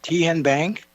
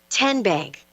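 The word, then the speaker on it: TN Bank: How do you say the name? Ten Bank. Nope. Tin Bank. Uh-uh. So, what is it? 10 Bank. 10 as in Tennessee.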